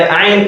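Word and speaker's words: عين: So we need to differentiate between their pronunciation, and that is why ayn is different. It is ayn, ayn, ayn, ayn, ayn, ayn. Do not forget that it's not ayn. It is what? Ayn.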